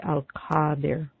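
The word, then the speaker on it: القادر: So the final quality is Al-Qadir, and that is spelled, let me spell it, Q-A-D as in David, I-R, Qadir.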